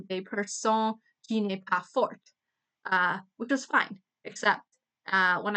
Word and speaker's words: fort: Therefore, fort you wouldn't pronounce the T.